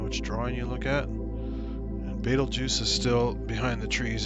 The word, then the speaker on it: Betelgeuse: of Orion is probably Betelgeuse. Or as some people say, Beetlejuice because of the movie. Or if you look at it and pronounce it more Germanically, it's like Betelgeuse.